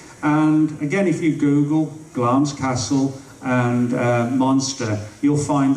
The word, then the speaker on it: Glamis: That's a place, well, it's spelled Glamis Castle, but it's pronounced Glamis Castle, actually, and it belongs to the British royal family.